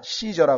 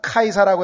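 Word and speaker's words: Caesar: 더더군다나 요한복음 19장 15절에 보면은 우리에게는 가이사, 시저라 그러죠. 영어로는 시저라 그러고 우리말로는 가이사라고 하는데, 이게 왜냐하면 영어의 C라고 하는 철자가 라틴어에서는 K 발음이 나와요.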